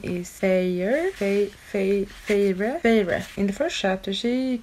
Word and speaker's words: Feyre: The first chapter where, oh, how do you even pronounce her name? Her name is Feyre.